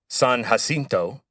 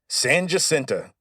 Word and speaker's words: San Jacinto: name and think it's San Jacinto. But you'd be wrong. As soon as the Texans won the Battle of San Jacinto Sam Houston declared that it would be pronounced San Jacinta from then forward.